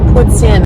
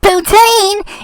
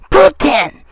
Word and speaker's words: poutine: So it's not poutine. It has to be pronounced poutine. That's the way they do it in Montreal, in the belle province of Quebec, Canada.